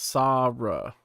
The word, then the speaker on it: Sabra: me out again but say my name correctly it's pronounced sabra yeah bro sarah is